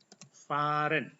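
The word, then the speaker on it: fahren: kerja itu kata kerja Faren ini cara bacanya Faren ada Ha Di Sini yang yang kemudian di depannya ada huruf hidup maka h-nya tidak dibaca tapi dibaca panjang ya Faren ini Faren artinya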